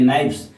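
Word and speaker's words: knife: बहुत सारे लोग इसे कनाइफ़ पढ़ते हैं। पढ़ते हैं। लेकिन नहीं यहां पे के जो है साइल रखते हैं। इसे नाइफ पढ़ते हैं। ठीक है? उच्चारण इसका नाइफ होता है। कानाइफ नहीं होता है।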